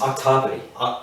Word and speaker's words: octopodes: Octopody. Is that how you say it? Yes. Octopody. It's not puss.